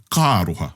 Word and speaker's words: ka aroha: iwi, te hunga whakarongo, well, actually it is two words, but the way you pronounce it is ka aroha.